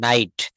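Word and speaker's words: knight: তারপর বলছে নাইট, তারপর বলছে নি।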